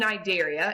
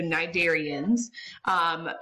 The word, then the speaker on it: Cnidaria: And if you notice in the picture, phylum Cnidaria, and the C is silent, so Cnidarians, encompass our jellyfish, our sea anemones, and our corals.